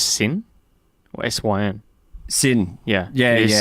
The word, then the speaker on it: SYN: You worked as a reporter for, is it pronounced Sin or SYN? Sin.